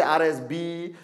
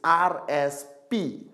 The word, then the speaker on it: RSP: I met some people from some countries, they say RSB, RSS. It's RSP. Retail Sales Points. Retail Sales Points. Don't have to remember. Remember RSP. Simple. Alright? Okay? RSP.